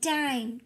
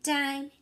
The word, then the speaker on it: dime: That silent E is powering up the I. All right, we want to make dime, dime, dime, little and thin.